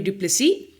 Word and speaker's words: du Plessis: In case you forgot, my name is du Plessis. Yes, it is indeed a silent S at the end of my surname.